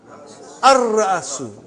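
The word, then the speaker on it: الرأس: Ar-Ra'asu. Not Al. Ar-Ra'asu.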